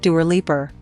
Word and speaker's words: Dua Lipa: album 24 facts about dualipa one dua lipa isn't a stage name yep dua lipa is the name she was born with it's pronounced doer leaper she says she didn't